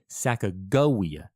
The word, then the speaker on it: Sacagawea: pronunciation of her name most scholars today fall into the hard G Sacagawea camp and that's fine but